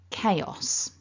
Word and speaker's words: chaos: it all back together remember stress the first syllable repeat after me nice